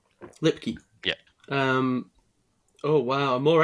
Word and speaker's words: Lipke: Lipke. Lipke.